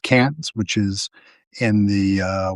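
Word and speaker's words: Cairns: c a i r ns but it's pronounced pronounced cans which is in the uh way up in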